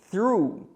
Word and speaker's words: through: Próxima pergunta, como é a pronúncia exata de through? Through. Esse TH, ele funciona como se fosse um S pronunciado com a língua no meio dos dentes.